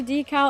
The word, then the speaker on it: decal: thank you thank you it's supposed to be decal I pronounced it de that cool I've got